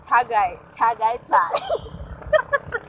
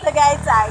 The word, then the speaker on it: Tagaytay: Tagaytay. That's the correct pronunciation of Tagaytay.